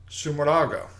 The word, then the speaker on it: Sumeraga: a young lady from riga latvia named jennifer sumurdaga i finally pronounced her last name correctly yeah yeah congrats